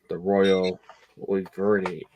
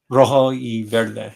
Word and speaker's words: Rojo y Verde: And then these two, High Seas and Clinker Casey did the Royal Verde. I always mispronounce the Spanish. I'm sorry, but these two are. Oh, go ahead. Rojo y Verde.